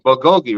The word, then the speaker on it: bulgogi: we're banging and then uh uh the bulgogi bulgogi right am I saying it right yeah yeah